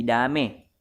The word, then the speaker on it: damai: Contoh lain, kalau menjadi kalau, danau menjadi dano, sate menjadi sate, damai menjadi dame.